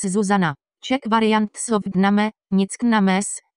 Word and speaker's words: Zuzana: with acute accents, so the correct pronunciation of the name in the dvojité vo languages is with stress on the first syllable and with short vowels Zuzana.